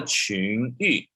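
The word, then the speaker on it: 情意: Sisu de qingyi. Jadi tadi ini 不敬虔的心和世俗的情意. Ini bacanya i, ya, jangan yu, ya, i.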